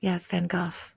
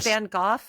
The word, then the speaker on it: Van Gogh: It's a Dutch name, it's a Dutch guy.